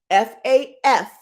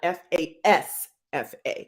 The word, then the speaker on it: FAFSA: FAFSA, not FASFA.